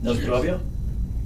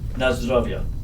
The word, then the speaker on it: Na zdrowie: Na zdrowie? I knew I mentioned this to Ooh. you before. Na zdrowie.